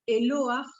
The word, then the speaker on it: Eloah: Que es una combinación del sustantivo singular Eloah, con terminación H que se pronuncia J, agregando el sufijo plural im, Elohim, agregado, ¿sí?